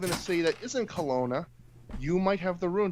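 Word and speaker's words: Kelowna: Kash I can't it's hard for me to pronounce the name of the city that you were in. Is it Colona? Colona.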